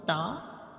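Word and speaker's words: ت: When we pronounce ta, we touch the tip of gums to the upper front two teeth.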